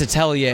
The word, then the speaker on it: atelier: It's Atelier. It's a French word for like an artist studio.